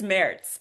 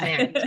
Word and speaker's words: Maerz: Everyone mispronounces it, even people I've known for years. So, it's okay. It's Merits. But you were very Merits. Merits. It's Merits.